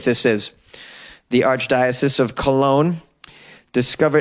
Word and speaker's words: Cologne: The Archdiocese of Cologne discovered, it's funny how we pronounce it Cologne, but it really looks like Cologne. What is that G doing in there?